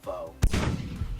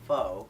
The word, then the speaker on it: pho: someone says oh I'm gonna go get some pho oh there's a new pho restaurant down the street because it's not pho I didn't faux fur as in the word